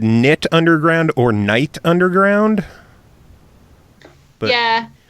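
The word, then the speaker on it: Knytt: um so yeah but it's kind of like potato potato knit knit so yeah I kind of think like everyone pronounces it differently because no one really knows how to say it but I always say knit on ground I I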